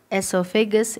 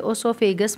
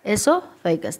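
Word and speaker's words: oesophagus: अब यहाँ पर हो गया माउथ, एसोफेगस, इसमें ओ साइलेंट रहता है इसलिए ओसोफेगस मत पढ़ना, एसोफेगस।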